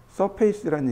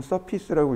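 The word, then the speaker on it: surface: 서페이스란 얘기는 뭐냐면 면만 만들어서 형태를 만들어가는 것, 면을 만들어서 형태를 만드는 것, 그걸 서페이스라고 합니다. 서페이스 혹은 서피스라고 읽기도 하는데 표면이란 뜻입니다.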